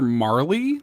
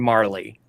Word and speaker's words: Marle: I called her Marley, but it's spelled like Marle, and so all my friends called her Marl, but I always called her Marley.